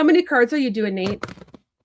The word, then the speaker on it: Nathe: It's Nate. Nate. It's Nate, but it has an e on the end, but it's pronounced Nate, right?